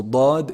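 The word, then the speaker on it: ضاد: letter in it so bod is a unique letter one side of the two sides of the tongue should be hitting the upper molars so laud the left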